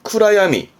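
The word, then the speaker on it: 暗闇: 그래서 발음이 쿠라야미.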